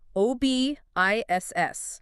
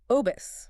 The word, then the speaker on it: OBISS: It's an acronym, OBISS, which stands for the Online Brain Injury Screening and Support System. And for you listening, they pronounce it OBIS.